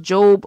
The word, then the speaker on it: Job: It's pronounced Job, but it's spelled J-O-B, like job.